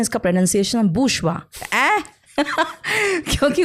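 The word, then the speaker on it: bourgeois: बोरगॉइस हुआ तो मैं कहती हूं इसका प्रोनंसिएशन बुषवा क्योंकि वो फ्रेंच ओरिजिन है उस वर्ड का तो उसका प्रोनंसिएशन उसका स्पेलिंग बिल्कुल अलग है अब जैसे देखिए ना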